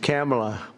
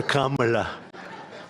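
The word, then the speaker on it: Kamla: It's a little different. It's cam, right? Cam as opposed to calm.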